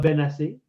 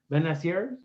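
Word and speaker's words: Bennacer: Some will turn out, a la Benacer, Benacer. Benacer. But I was told that it's Ben, like son of Ben, and Elias was telling me.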